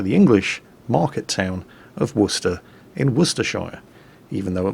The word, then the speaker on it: Worcester: This is the USS Worcester. Yes, really. What? But it says Worcester. No, really, it doesn't. The ship was named after the town of Worcester, Massachusetts, which itself was